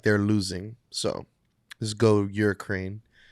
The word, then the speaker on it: Ukraine: So let's go Ukraine. Why do you say it like that? Yeah. It's Hurricane? What are you saying? Ukraine. It's Ukraine. Ukraine.